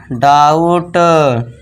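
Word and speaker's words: doubt: बस ये जो बी है साउंड यहाँ पे साइलेंट रहेगा, टी के लिए टा कर दिया, तो ये हो गया डाउट, काउंट, डाउट, काउंट।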